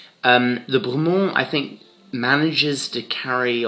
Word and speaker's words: Bremont: It's Bremont.